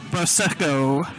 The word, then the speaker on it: Prosecco: How do you pronounce it again? Prosecco.